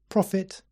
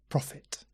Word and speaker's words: profit: a noun and interestingly the pronunciation of the word profit is exactly the same as for the word profit as in the Prophet Jeremiah or the prophet